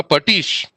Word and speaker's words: pastiche: Now, Patish, it is pronounced as Patish and written as Pastiche.